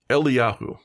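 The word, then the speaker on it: Eliyahu: saying names wrong so I looked it up and it's doctor um Eli Yahoo and that's how you pronounce it I think I think I got that right gold Rat so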